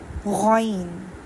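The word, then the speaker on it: غ: ये था खा या गाइन, गाइन, गाइन या ग का साउंड नहीं देना। ये स्कूल वाली अलिफ बे का गाव नहीं है, ये हम कायदा पढ़े।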